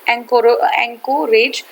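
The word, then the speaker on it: Anchorage: एंकोरेज daily news, ठीक है, एंकोरेज नहीं है, ये एंकरेज है, एंकरेज डेली न्यूज है, हाँ वेरी सॉरी, ठीक है, एंकरेज डेली न्यूज है, एंकरेज डेली न्यूज है, ठीक है। हिंदी में थोड़ा सा उसका प्रोनाउंसिएशन अलग हो जाता है, एंकरेज डेली न्यूज है।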